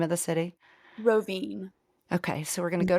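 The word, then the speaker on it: Rovinj: Pronounce it for us, the name of the city. Rovine.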